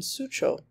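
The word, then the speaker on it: Suzhou: The Lion Grove Garden in Sucho, which is pronounced Su-cho.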